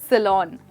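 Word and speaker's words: salon: अब लोग अक्सर इसको सैलून कहते हैं दोस्तों, यहाँ पर लून नहीं बट लॉन की साउंड आती है। फिर से बोलिए, सैलून।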